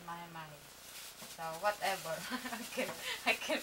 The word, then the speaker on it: mahi-mahi: And of course, same things, the seasoning, add on the fish, mahe mahe. Mahe mahe? So, mahi-mahi. My husband say mahi-mahi.